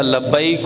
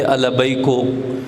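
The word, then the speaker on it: لبيك: کر پا سکتے تھے۔ لبیک البیکو، میں کہتا لبیک، وہ کہتے البیکو، یعنی وہ پوری زندگی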